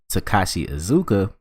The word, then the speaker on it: Takashi Iizuka: But when BBC Newsbeat catches up with Sonic team head Takashi Iizuka, ooh, I pronounced his name right this time.